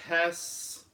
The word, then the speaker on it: Hess: David Hess, he said the E is silent, so pronounce it like Okay, Hess.